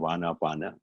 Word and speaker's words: Anapana: Prana and aprana together became Anapan, or they anglicized the pronunciation of Anapana.